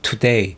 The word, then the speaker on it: today: 예를 들어 뭐 today도 today 이것도 day에 강세가 가기 때문에 to를 세게 today 이렇게 할 필요가 없는 거죠. today 이게 이렇게 빨리 하다 보니까 원어민들은 자기도 모르게 today가 또 르데이 이런 식으로 발음이 나는 건데 우리는